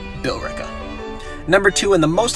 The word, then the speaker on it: Billerica: three we got billerica some of you out there will say this is balerica and i'm to that i say no billerica number two and the